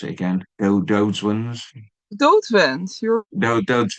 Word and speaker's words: Doodswens: Doodswens. Your Doodswens.